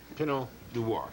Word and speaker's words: Pinot Noir: I've heard it pronounced several different ways, but that's proper. Pinot Noir.